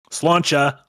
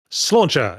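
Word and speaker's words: sláinte: Uh apparently it's pronounced slaer. Slauncher. Slauncher.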